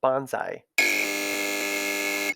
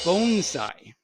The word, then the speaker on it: bonsai: well qualified to say banzai and you are correct that that is the incorrect way to pronounce it the correct pronunciation is bonsai interesting it's a long o my husband actually came